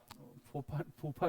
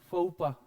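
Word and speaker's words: faux pas: explain कर देता हूं इसमें जो लास्ट लेटर होता है हमेशा साइलेंट होता है अब जरा एक्स और एस को जो है कर दीजिए साइलेंट अब इसको प्रोनाउंस करिए फ फूफा नहीं है फपा हां हां वही वही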